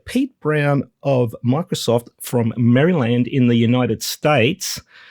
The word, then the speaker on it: Maryland: So, you know, like Disneyland, we'll say Maryland. And I also know that it kind of grinds on some of the listeners that I say Maryland. But That's how we pronounce it in Australia, mate, because, you know, Maryland chicken.